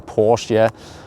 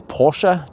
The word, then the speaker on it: Porsche: I've been trolling, I've been saying Porsche, but it is Porsche, just like it is Volkswagen, it's BMW, So maybe finally the guys at Stuttgart are like, okay, he's okay now.